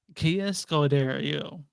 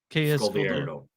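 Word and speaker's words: Kaya Scodelario: Kia Scodelario. Oh, Thank Scott. you. I knew I was gonna Kia mess that up. Scodelario. Kia Yes. Kia Scodelario.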